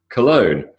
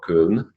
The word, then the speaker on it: Cologne: Cologne, it's not what they say in German, but that's the way that we call that town, that city in Germany, Cologne, not Köln. So Cologne, silent G. Okay, so far, so good.